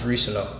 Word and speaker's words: Reescano: I'm going to say it right now, so hopefully stop it. It's Reescano.